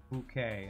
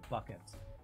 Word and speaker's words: Bucket: From a British comedy, she always pronounced it Mrs. Bouquet instead of Bucket.